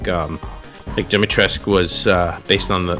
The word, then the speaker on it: Dimitrescu: Well, actually, characters pronounce it differently in the game. Okay. So, one says Dimitrescu, and they're like Dimitrescu.